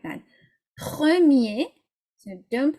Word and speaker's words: premier: If the word ends in ER, okay, then you don't pronounce the R. So it would go like that. Premier, so don't pronounce it, or première.